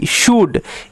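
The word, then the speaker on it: should: ও ইউ এল ডি সুড এই তিনটেকে ভালোমতো মাথায় রাখতে হবে এইখানে এল সাইলেন্ট থাকে উড কুট সুড উড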